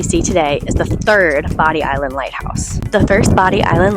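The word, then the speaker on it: Bodie Island: Why did I call it Body Island and not Bodie? Well, the truth is it is pronounced Body Island.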